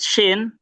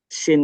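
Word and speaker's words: شين: Oke, buat shin. Nah, shin ini dia berbeda sama Jim. Kalau Jim tadi dia enggak mengeluarkan udara. Kalau shin dia sudah pasti mengeluarkan udara ya otomatis ya.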